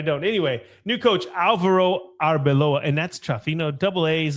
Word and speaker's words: Arbeloa: want to say Arbeloa, but it's it is Arbeloa. Okay, never mind. I always think that I'm going to mess it up, but I don't. Anyway, new coach Alvaro Arbeloa, and that's tough.